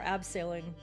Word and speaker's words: abseiling: This is me rappelling or abseiling. Abseiling? My dad corrected my pronunciation on the German word, as he does.